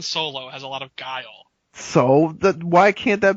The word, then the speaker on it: Guile: ] pronounce his name guile is a word is it yeah you didn't know so angel I mean what does that have to do with anything well that's how you know how to pronounce it it's a word dude we sound like